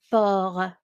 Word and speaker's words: port: And port, un port. T is silent in French.